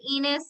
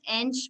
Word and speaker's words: Enos: people i just say enos um it is portuguese so it's pronounced inch but enos is fine